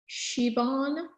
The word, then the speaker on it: Siobhan: It's pronounced Siobhan.